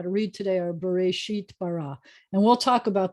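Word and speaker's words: בראשית: The first two words are bereshit. Why is there an aleph in there? It has no vowel and it has no sound.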